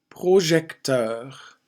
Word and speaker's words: projecteur: Projecteur. EUR at the end of this word. Teur. Projecteur.